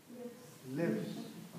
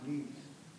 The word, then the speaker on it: lives: he comes on the time lives not leaves pronunciation l i v e s lives lives lives lives lives